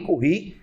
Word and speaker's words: Curie: Quando você aquece o ímã a uma determinada temperatura, que é o chamado ponto Curie, em homenagem à física francesa Marie Curie, ou Curie, como você queira pronunciar. Por exemplo, o ferro, 770